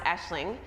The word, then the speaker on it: Aisling: yesterday he's very friendly he's Irish and so my name is an Irish name which is pronounced Aisling anyway so I'm at